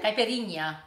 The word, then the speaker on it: caipirinha: Before you missed the ear off the end. Oh, good. It's good. It's like hanging out. What is it? Where I say it again? Caipirinha.